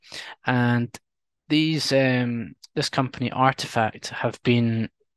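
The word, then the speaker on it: RTFKT: got one here called RTF KT which is pronounced artifact and they started out um collaborating with lots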